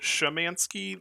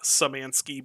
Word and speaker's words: Szymanski: family's thinking was that if they pronounced it shamansky that um that would it I don't know they thought for some somehow that would make it more obvious excuse me um that it was spelled with a z but I have no idea why I I ended up going with samanski because like I said the rest of my family pronounces it different why is my game